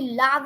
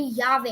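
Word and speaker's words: llave: It would be pronounced as double L is always pronounced as yeah.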